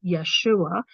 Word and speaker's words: Yeshua: um first of all there's no J in the Hebrew language so that's why he his name is pronounced Yeshua um and so a